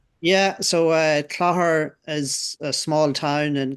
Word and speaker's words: Clogher: genealogy for a range of publications including the Clogher Record and the Spark. Is that how you pronounce that word? Yeah, so uh Clogher is a small town in County Tyrone, but